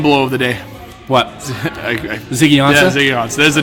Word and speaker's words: Ziggy Ansah: With Asena, I can't pronounce his last name, with Detroit. Ziggy Ansah? Ziggy Ansah, thank you.